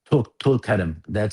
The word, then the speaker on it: Tulkarm: Tulkarm.